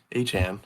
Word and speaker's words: Achane: Devon Achane, as he said that he would like his name to be pronounced, he's vocalized that in a meeting after